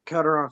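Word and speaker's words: Calderón: Frank, is that, give me the correct pronunciation, your last name. Calderon, sir. Calderon. I'm sorry.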